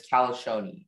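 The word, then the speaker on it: colascione: The word's only pronunciation is Kalashoni.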